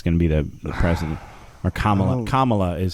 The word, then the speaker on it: Kamala: kamala harris is gonna be the president or kamala is how it's pronounced um but anyway uh i believe that's